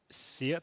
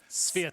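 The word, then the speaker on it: svyat: You have to pronounce it as Sviat. Sviat. Just rush it. Say it like a Brit. Sviat.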